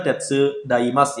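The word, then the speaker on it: 手伝います: Oke, di sini untuk kanji yang pertama itu dibaca tetsu daimasu ya, minasang. Tetsu daimashou ka. Seperti itu cara bacanya ya.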